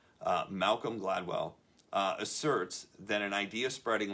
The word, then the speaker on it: Gladwell: In the book Tripping Point by Malcolm Gladwell, I keep saying his name wrong. I always say Gladys. Malcolm Gladwell asserts that an idea